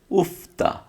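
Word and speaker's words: 읊다: Sorry, রিউল আর ফিউপ একসাথে থাকলে আমরা জানি, রিউল আর ফিউপ যদি একসাথে থাকে তাহলে ফিউপের উচ্চারণটা হবে, রিউলের উচ্চারণটা হবে না। তাহলে সেক্ষেত্রে দেখেন, এই যে রিউল রিউলের উচ্চারণটা হবে না, তাহলে কি হবে, উফতা, উফতা অর্থ হচ্ছে আবৃত্তি করা, উফতা, আবৃত্তি করা।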